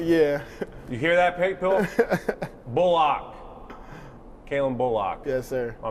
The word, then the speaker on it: Bullock: Oh, and also, how do you say your last name? Bullock. Bullock, so everyone's getting it wrong.